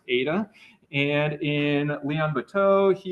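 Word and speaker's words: eta: with a little tail at the end is pronounced Ada and in Leon BTO he uses this gamma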